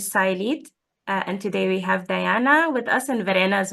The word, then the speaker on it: Diana: My name is Diana, and it's actually pronounced Diana, as I'm from Mexico originally.